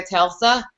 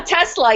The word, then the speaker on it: Tesla: we need to take a Telsa a Tesla yeah a Tesla that's how you say it oh my gosh I